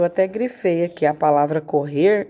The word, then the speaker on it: correr: A palavrinha correr. Correr, né? Qual é a sílaba mais forte dela? Né? Chama a palavrinha correr. Correr, né? A sílaba mais forte é o rer.